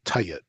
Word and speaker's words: tjt: Egyptian um symbols were used as what's called tayet, TJT, or it's spelled TJT sometimes.